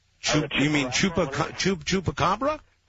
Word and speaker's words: chupacabra: I'd like to talk about that uh Chim Chunga. You mean Chupa? Chup chupacabra.